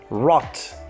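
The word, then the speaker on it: rad: Rod is pronounced as rot.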